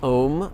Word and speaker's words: om: mantra of red tare om rhymes with home ta sounds like the